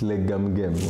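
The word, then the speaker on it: לגמגם: But so how do you say stammer in Hebrew? It's legamgem, right? To stammer or stutter, right? It's two words. So, to legamgem.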